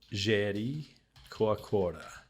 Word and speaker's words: Jericoacoara: And then this is Jericoacoara. I'm trying to use kind of more legit Portuguese pronunciation as I'm trying to learn it.